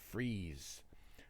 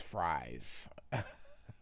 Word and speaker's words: Fries: I always thought it was Fries. Um, and I know they pronounced it freeze, but it's spelled like fries.